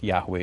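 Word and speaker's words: Yahweh: Bible in the Bible only the four consonants are mentioned y h WH and scholars now fill it out to say that yahwe is the best er pronunciation uh now according to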